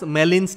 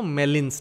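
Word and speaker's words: Gmelin's: Just note this, the alternative test to this test is pronounced as Mellin's test. G-M-E-L-I-N, G is silent. So Mellin's test.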